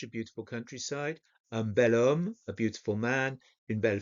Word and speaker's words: homme: a vowel, étudiant or homme. Now, homme literally has an H at the beginning, but the H is silent, so it starts with the sound of the vowel.